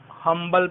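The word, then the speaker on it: humble: हम्बल person, अब students confuse हो जाते हैं कि एच को ऑनर में, आवर में साइलेंट मान लिया था, यहाँ भी साइलेंट ही होगा, इसका प्रयोग हमेशा ही साइलेंट होता होगा, लेकिन ये बिल्कुल गलत बात है। That is known as हम्बल, हम्बल है, यहाँ पे प्रोड्यूस हो रही है साउंड, तो हम एन का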